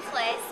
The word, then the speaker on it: Flis: All right, I am standing here with Erin Flis, and I pronounced it right.